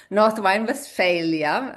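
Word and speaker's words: Nordrhein-Westfalen: So everybody who wants to also learn a little bit German, this is how your state is pronounced in German, Northwine, Valia um in English.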